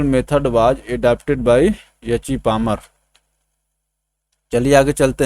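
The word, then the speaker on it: Palmer: देखिए अंग्रेजी में तो यहाँ पे यल साइलेंट हो जा रहा है, ठीक है ना, पामर।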